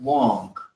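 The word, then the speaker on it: 王: This is a very old Chinese character, and it's the character for king, and it's pronounced Wong.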